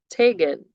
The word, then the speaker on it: Tagon: world, the Palawanis practiced the custom of Tagan. It's spelled Tagon.